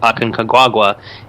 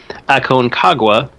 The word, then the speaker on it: Aconcagua: when he climbed Mount Aconcagua in, I really messed that pronunciation up, Aconcagua in Argentina.